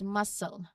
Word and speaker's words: muscle: Even though you see the C, we pronounce it as muscle. Okay? Muscle. You don't hear a K sound for that C. It's just the S sound, hissing sound.